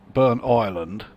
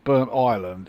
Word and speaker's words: Burntisland: Now maybe someone from around this area can help me out with the pronunciation of this next station here. Is it Burnt Island or is it Burntisland?